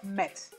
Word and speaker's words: Mets: mets se aclaró miguel se pronuncia y se dice así viene the metropolitan por eso mex ya cuando estuvo con